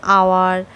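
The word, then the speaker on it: hour: আবার honest আওয়ার honourable এই শব্দগুলো বানানে প্রথম এইচ থাকলেও সেগুলো উচ্চারণ হ না হয়ে স্রবর্ণ দিয়ে শুরু হচ্ছে যেমন আওয়ার অনেস্ট অনারেবল ইত্যাদি।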